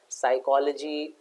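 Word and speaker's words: psychology: नहीं बोला जाता है साइकोलॉजी और में पी नहीं बोला जाता है ठीक है ना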